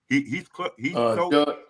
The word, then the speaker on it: Heathcote: How you pronounce it? Heathcote.